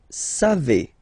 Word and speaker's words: savez: Then vous savez. Classic ending for vous, EZ, but then phonetically it's E. Vous savez. Savez.